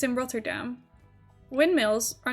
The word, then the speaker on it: Rotterdam: How is Rotterdam pronounced in Dutch? Rotterdam. Yeah. Like that. Okay, wait. I like that layout of things more. What if it's just not even, but whatever. Roll the R.